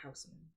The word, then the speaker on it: Huisman: name is spelled Huis, but he pronounces it Huisman.